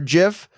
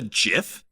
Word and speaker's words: GIF: just call it a Jiff is that what I said it's a gif man shites okay go ahead it's a hard G not a soft you suck this kid